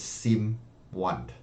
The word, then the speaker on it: Simone: me tell the world your name is Sim one it's kind of not an answer Simone Italy and pronunciation is a little bit different right right I appreciate